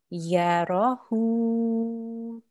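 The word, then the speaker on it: يراه: Okay, so this would be pronounced yarahu.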